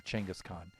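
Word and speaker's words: Chinggis Khan: the individual or and we should say genghis khan because that's that's a little bit closer to the uh uh or changus khan it's a little bit closer to the proper pronunciation pronunciation for that so yeah mongols were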